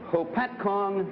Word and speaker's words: Hopatcong: Frank Smith, a salesman and repairman from Lake Hopatcong, New Jersey.